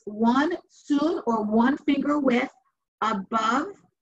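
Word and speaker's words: cun: It's written C-U-N, but it's pronounced soon.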